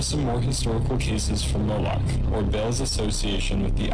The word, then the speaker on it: Moloch: Mulak is another pronunciation for Moloch. Now we can see how Moloch and the owl at Bohemian Grove have uncanny similarities.